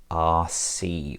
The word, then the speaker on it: Arcee: In today's video we're taking a look at the Zeta EX-05 Arcee or Arc, depending on how you wish to pronounce it.